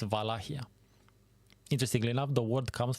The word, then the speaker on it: Wallachia: You might also hear it as Wallachia. That's not how you actually pronounce it as a Romanian from that region, actually. This is just like the anglicization, basically, of the term. The correct way to pronounce it is Wallachia. No wa and no cha either. It's Wallachia.